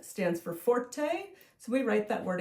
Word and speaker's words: forte: it m e z z o and then Forte is spelled f o r t e okay so